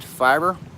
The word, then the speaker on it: Feyrer: My last name is pronounced Feyrer. So basically it's fire with an ER at the end of it.